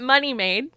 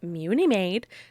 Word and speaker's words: Munimade: it's genius right um it's not money made contrary to how some people pronounce it it's mewni made okay okay and okay